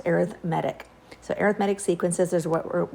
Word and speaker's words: arithmetic: that is spelled like arithmetic but it is pronounced arithmetic so arithmetic sequences is what what we're going